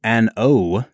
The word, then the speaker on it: An Oa: right so today we are checking out Ardbeg n o that's how it's pronounced Brad n o a n space o